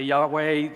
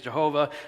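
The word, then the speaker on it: Yahuah: with people about this some say Yahweh the King James sages Jehovah Jehovah look we're talking about four consonants and we're doing the best we can the pronunciation I've landed on is you who us so if you hear that that's what I'm referring to is the name of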